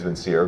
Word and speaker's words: Vincere: The way I say it is Vincere, but...